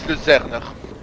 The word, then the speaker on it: Luzern: It can't be pronounced in German. Yeah, in German it's Luzerner.